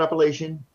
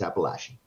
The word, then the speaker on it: Appalachian: It was wonderful, David, and I'm so heartened that you got the pronunciation of Appalachian correct. I can't tell you how many times it's not Appalachian, it's Appalachian.